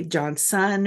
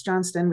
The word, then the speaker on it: Johnston: storytelling right growing up people would always mispronounce my last name it' be John son or JN Stone and I got in the habit I was always like it's John Sten with a t but no e okay and now everyone